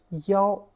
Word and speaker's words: 幺: The reason is 幺 sounds harder than 一. This pronunciation is too light. Okay, if you say 一, people may just omit it. You just ignore it. It's too short, too light.